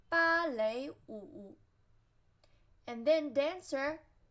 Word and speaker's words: 芭蕾舞: Then we have ballet, 芭蕾舞, 芭蕾舞, 芭蕾舞. 舞, which means dance in non-form, 芭蕾, which is translated by the sound of English, 芭蕾舞, 芭, flat tone, 蕾, second tone, 舞, third tone, 芭蕾舞.